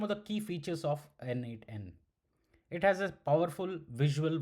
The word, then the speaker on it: n8n: It's pronounced as N8N which offers a node based visual editor.